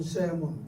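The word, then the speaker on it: salmon: 살몬은 우리가 회를 해서 먹는 연어라는 저기 북쪽에서 나오는 그 고기 이름이 살몬인데 영어 발음으로는 세몬 그래요. 세몬.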